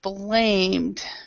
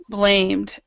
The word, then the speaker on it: blamed: shared okay dubb so the E is silent so shared dubbed now with all the past tense Ed so blamed um blamed dubbed shared there is